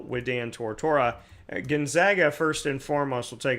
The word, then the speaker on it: Gonzaga: Some of you say Gonzaga. I had said Gonzaga forever, but from what I understand, Gonzaga is the correct way to say it. So that is why I say Gonzaga.